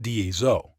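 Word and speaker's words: DESO: is the dies away framework pronounced dieso d describe Define the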